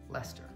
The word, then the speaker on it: Leicester: And then there's another place that you will see in Britain, which follows the same convention of you don't say Sester, which is? Leicester.